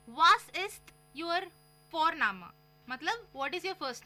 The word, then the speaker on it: Vorname: और हम यहाँ पे फोरनामा प्रोनाउंस करते हैं बट लिखते हैं उसको VORNAME। ओके, तो वो हम इंग्लिश के अनुसार प्रोनाउंस करेंगे तो बनेगा वॉरनेम, बट नो, इट्स फोरनामा।